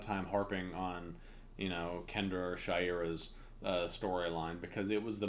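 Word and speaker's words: Shayera: Because it is supposed to be pronounced Shaira. Yeah. But they were like, Shiada. Shauda.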